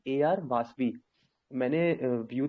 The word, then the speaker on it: Vasavi: Sir spelling बता दिए। AR वासवी, VASAVI, वासवी, वसावी।